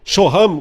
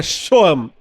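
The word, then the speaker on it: שהם: Hebraica era shoam né shoam ou shoham como alguns porque tem o h mas a pronúncia é mais leve né shoam que que é esse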